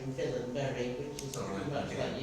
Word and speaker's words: Wallenberg: Swedish and he says that I have to pronounce wallenberg's name in villain Berry which is something much about you pronounced it